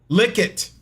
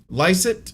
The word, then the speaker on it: Lycett: How do you say his name? Lycett. Lickett. Oh, it ain't gonna lick itself. It's not. It's Lycett, but I couldn't resist.